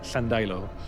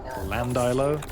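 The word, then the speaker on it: Llandeilo: a place called Llandailo, which was double L, so it's ll. It's a strange kind of lisp sound in your mouth. But if you ever pronounced it just Llandailo, oh boy, you pissed off the natives.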